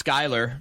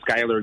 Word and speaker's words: Schuyler: Guys, here's Skylar.